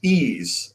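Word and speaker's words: Yves: this question it's from I believe this is pronounced ease after yes but not spelled that way after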